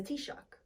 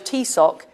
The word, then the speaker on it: Taoiseach: person in charge of the parliament is the t-shock the Irish t- sock to Pro to to discuss this with the EU the Irish tck as you can see some International leaders can